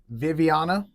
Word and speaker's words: Vivianna: But today, I'm here with one of our wonderful student interns, Viviana, right? Yes. And that's how you pronounce it, right?